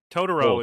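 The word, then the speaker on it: Totoro: watching um my neighbor do you say it tooro or todoro tooro tooro are you are you asking me how to say it if you're speaking Japanese or just I mean to but I mean tooro is English speakers just say my neighbor tooro so we're watching tooro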